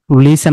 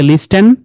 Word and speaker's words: listen: hustle, jostle, listen, লিসেন, আমরা কি বলি লিস্টেন, এটা হচ্ছে লিসেন।